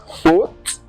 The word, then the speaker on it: faute: O, whenever you see AU in French, it is pronounced as O. Okay, just like faute, faute, aussi, aussi, aujourd'hui, aujourd'hui.